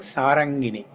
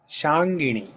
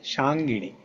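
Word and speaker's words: शार्ङ्गिणि: So that word, don't pronounce it like sarangini, shangini. Okay, shangini.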